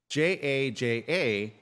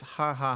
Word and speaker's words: jaja: So whenever you see Jaja, how do you pronounce that? Ja. I don't know. That's exactly what I used to think. Okay, so see, I'm not the only one. No, it's ha ha ha ha. It's the Spanish form of ha ha ha ha.